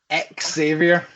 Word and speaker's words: Xavier: pretty sure on it it says pronounce the X Xavier Exavier so but in Z's